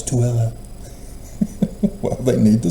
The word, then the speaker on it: Tooele: I saw it and I went, Thule, what? And I was corrected by a Mormon here in Utah. No, it's Tooele. Well, they need to spell it Tooele, not Thule.